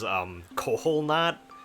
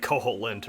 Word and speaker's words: Koholint: I knew a kid back in elementary school who pronounced the name of this island as Koholnat, and it's like Koholint or whatever.